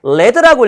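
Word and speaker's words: lead: 읽을 때리라고 읽으면 이끌다란 뜻이에요. 내가 뭔가 이렇게 이끌고 가는 느낌이에요. 근데 똑같은 단어인데 레드라고 읽으면 나비란 뜻이에요.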